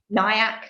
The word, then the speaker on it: Nyack: He grew up in Nyack, if that's how you pronounce it. Yes. Yeah. Nyack, New York, just up the road from the Hudson River.